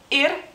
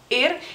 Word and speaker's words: ir: palabra en el lituano no más que la i es más corta ir ir significa y por ejemplo